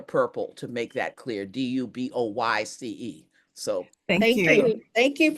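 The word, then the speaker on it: Du Bois: back and forth, and I have heard it pronounced Dubois all my life. But then I Googled it and they said it's Dubois. But if the family, we need to pronounce it the way the family wants us to pronounce it.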